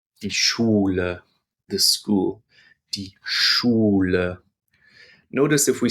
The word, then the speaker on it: Schule: SCH is pronounced almost the same as SH in English, but more air will escape from your lips when you say SCH in German. This is die Schule.